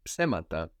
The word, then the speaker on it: ψέμα: And this ps, we mentioned how it's just one letter in Greek, this ps, written as one letter, looking like that fork.